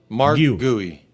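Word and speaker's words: Marc Guiu: Mark Gooey.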